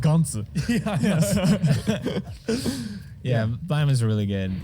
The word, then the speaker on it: Gantz: I mean, in Japanese, it's pronounced Gantz.